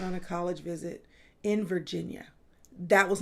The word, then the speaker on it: Virginia: First of all, Virginia. That's right. I gave it an extra syllable. Virginia.